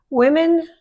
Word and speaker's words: women: Women like purses. That's women, even though you don't see an E there, we pronounce it plural.